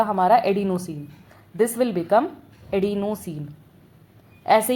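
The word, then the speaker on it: adenosine: This will become एडिनोसिन। ऐसे ही इसको pronounce करो।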